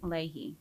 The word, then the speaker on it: Leahy: your name wrong so how do you like pronounce it Ley Ley okay perfect okay um so like what's